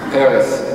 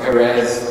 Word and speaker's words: Peres: Peres, not Perez, or other forms that I've heard.